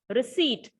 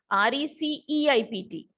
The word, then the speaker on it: receipt: conceit c-o-n-c-e-i-t deceive d-e-c-e-i-e-v-e receipt r-e-c-e-i-p-t here p is silent receipt perceive p e